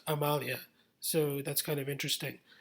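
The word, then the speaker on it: Amalie: m a l i e but it's actually pronounced Amalia so that's kind of interesting also the the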